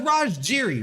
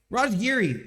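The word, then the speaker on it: Raj Giri: no no it was raj jiri right raj geary why did i say jiri i know how to pronounce his name what am i it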